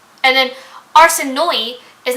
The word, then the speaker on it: Arsinoe: And then Arsinoe is not pronounced Arsinoe because there's an E at the end. So I would pronounce it Arsinoe in my head, and then I heard the audiobook, and it's no, it's Arsinoe.